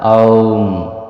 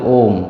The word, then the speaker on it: ওঁ: একটা হলো আ, একটা হলো উ, আর একটা হলো ম। এই তিন শব্দের সমন্বয়ে এই ধ্বনিটা তৈরি। এখানে শব্দটা হলো আ উ ম, অর্থাৎ আউম।